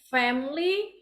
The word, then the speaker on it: family: okay whole family okay when you you guys say family the i in between M and L is really uh it's silent I so it's family no family